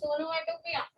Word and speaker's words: onomatopoeia: The spelling is puya, but don't pronounce like foolish. It's onomatopoeia. Onomatopoeia.